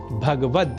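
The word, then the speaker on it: भगवद्: पर श्रीमद् भगवत गीता, इसमें भगवत पद में गकार से संयुक्त अ स्वर का हम लोप कर देते हैं और कह बैठते हैं भगवत, जबकि शुद्ध उच्चारण भगवद ही है।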